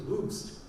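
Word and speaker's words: Hoechst: typically German name, and the exact pronunciation was Hoost, and very few people could pronounce Hoost, you know.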